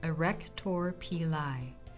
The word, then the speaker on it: arrector pili: the blood supply for growth the arrector pili pronounced a wreck Torpy lie it's an involuntary muscle fiber at the base